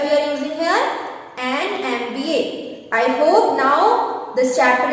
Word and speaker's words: MBA: So here the first alphabet is M. So the sound of M is, say it, M. M starts with A then M. So the sound is of A, and A is a vowel sound.